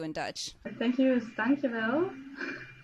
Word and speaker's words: dankjewel: Thank you is dankjewel.